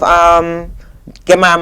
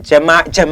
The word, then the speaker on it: Jamar: We also have Gemar McFarlane, God, please, I hope I'm pronouncing his name correct. every time I keep mispronouncing Jamar McFarlane.